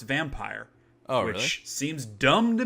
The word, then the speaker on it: Vampyr: It is spelled Vampyr, but it is pronounced Vampire.